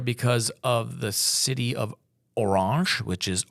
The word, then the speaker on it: Orange: of the city of orang which is orange it looks like orange but it's pronounced orang and for a specific